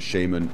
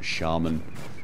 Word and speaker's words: shaman: If you're wondering what on earth I'm babbling on about saying Shaman, Stardusk made a video regarding the pronunciation of Shaman, Shaman. Basically pointing out that both are correct.